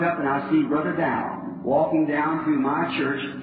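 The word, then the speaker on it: Daugh: I said, Brother Dow, can you hear me? He looked up at me. Not really in his name, he's a German, D-A-U-G-H, and I pronounce it Dow.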